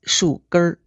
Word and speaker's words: 树根儿: 树根 is written 树根儿 but the N is not pronounced as a full N. It becomes 树根儿.